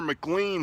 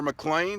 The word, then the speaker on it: McLean: this house over my shoulder here, the Wilmer McLean house, or McLean, depends on how you like to say it. It's spelled M-C-L-E-A-N.